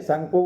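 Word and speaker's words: Tsangpo: When it flow through the Himalayas, it's called the Sangpo. जब वो Himalaya area से जाती है, फ्लो करती है, उसको क्या बोलते हैं हम, सांगपो बोलते हैं। यहाँ पर टी साइलेंट है, सांगपो बोलते हैं।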